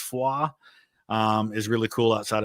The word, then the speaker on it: Foy: Um going to the town of Fua, I know they pronounce it Foy on the show, but it's Fua.